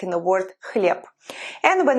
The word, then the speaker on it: хлеб: For example, in the word bread, хлеб. It's written as h, l, ye, b at the end, but we pronounce it as p, as its devoiced partner.